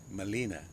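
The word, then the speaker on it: Gmelina: Molina. G is silent.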